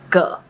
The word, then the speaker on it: 個: When it’s used as a measure word, it often loses its tone and is pronounced with a neutral tone. 個 It can be used